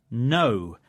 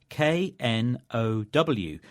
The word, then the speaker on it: know: The word was know, meaning to recognise and understand something. It's spelt K-N-O-W, but we don't say the letter K, so it isn't know, but no. It's no.